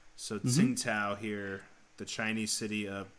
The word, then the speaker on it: Tsingtao: perfect because tsingtao beer the brand name is not spelled with pinyin it's spelled with another way to write chinese with english letters so ting tao here the chinese city